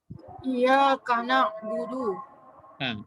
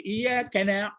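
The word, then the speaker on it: إِيَّاكَ نَعْبُدُ: Tapi kebiasaan orang sudah membaca iyyaka na. Jadi kalau kana kan ini ya. Na'budu. Ya, iyyaka na'budu. Tapi iya kena katanya. Iya kena jadi. Jadi kena jadi kena ini jadi iya kena bukan iyyaka na'budu wa iyyaka nasta'in ya.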